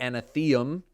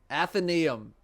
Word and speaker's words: Athenaeum: The Anatheum. No, that's not. I forget how to say it. Athenaeum. You'll activate and deactivate which ones you want in this area, the Athenaeum. Yeah, I was right.